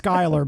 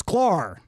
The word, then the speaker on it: Sklar: I keep wanting to say Skylar, but it's Sklar.